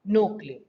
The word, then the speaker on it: núcleo: También a su vez se va a dividir en citoplasma y en núcleo. ¿Sale? Núcleo, acento en la U, por favor. Núcleo.